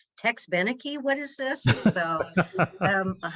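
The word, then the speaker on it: Tex Beneke: call my dad and go how do you pronounce his name it's tex benecke what is this so um i worked at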